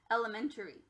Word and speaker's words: elementary: for the real word elementary this a is a schwa because it went from k to uh everyone from a to